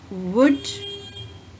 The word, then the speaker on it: would: Should, would, could. La sound is silent in all these three words.